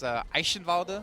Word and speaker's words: Eichenwalde: If you're in Germany, it's Eichenwalde, because the E always has like a hard sound. You always pronounce the E in German.